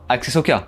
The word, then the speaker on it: Axesoka: C'est ça, hein, ça se prononce comme ça, hein, Axesoka.